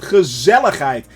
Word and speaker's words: gezelligheid: Gezelligheid. That's actually how you pronounce it. So, with the hard G.